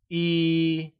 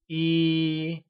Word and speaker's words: yī: 1 translates to E and is pronounced with a high level tone. Can you say E?